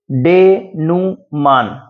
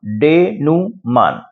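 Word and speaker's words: denouement: इसका उच्चारण है डेनुमान।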